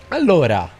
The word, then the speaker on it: allora: Allora.